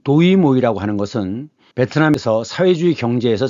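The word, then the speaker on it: Đổi mới: 그럼 베트남 발음은 뭐냐? 모입니다. 그래서 이것을 읽을 때는 도이모이라고 있습니다. 그럼 뜻은 뭐냐? 바꾼다는 뜻입니다. 시는 시작이죠. 새롭게 바꾼다는 뜻이에요. 그래서 이 도이모이라고 하는 것은 베트남에서 사회주의 경제에서 자본주의 경제를 도입했던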